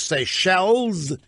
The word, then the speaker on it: Seychelles: If you want to be on the program, I've now been informed the correct pronunciation is Seychelles, not Seychelles.